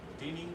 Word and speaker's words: dining: The plan involves transitioning the traditional cafeteria style dining to modern food court concept. Okay, cool. I'll help you with this word a little bit. Everybody say dining. Dining. A long I sound.